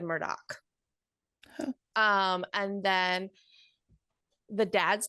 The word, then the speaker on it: Murdaugh: get started um hey the name is spelled m-u-r-d-a-u-g-h but they wouldn't that be yeah but they pronounce it Murdock oh not murder that's what I thought too but everybody said Murdoch um and then the